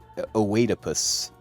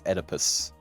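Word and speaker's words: Oedipus: E's are really weird well it's Greek so yeah well I mean it's not o oadus it's edus you got an edus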